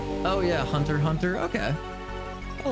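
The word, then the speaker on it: Hunter × Hunter: I always called it Hunter Times Hunter and I've been corrected many times by that.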